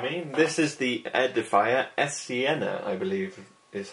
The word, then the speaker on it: Esiena: This is the Edifier Esiena, I believe is how it's pronounced.